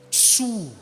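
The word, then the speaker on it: צור: como a Rocha Aleluia a palavra Rocha no hebraico é TS tsur Rocha mas para se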